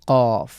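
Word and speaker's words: ق: এরপরে হলো গ্রুপ সেভেনে আমরা দেখতে পাচ্ছি ফা এবং কফ। প্রথম লেটারটি হল। উপরের যে দাঁত রয়েছে এটা আমাদের নিচে ঠোটের পেটে স্পর্শ করবে। কফে একটা ধাক্কা দিতে হবে।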